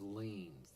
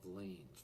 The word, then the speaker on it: lien: The first video is going to be starting with the concept of liens. That's L-I-E-N, pronounced like you're leaning against a building.